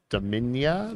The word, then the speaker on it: Dominia: Arsenaling the Dominia.